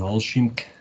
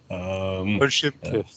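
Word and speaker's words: Olschimke: The Lindstedt and Olschimk, how do I pronounce that, please, Christian? Olschimk.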